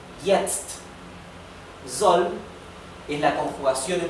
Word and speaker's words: jetzt: Recuerden que la J en alemán se pronuncia igual que la I nuestra del español. Jetzt.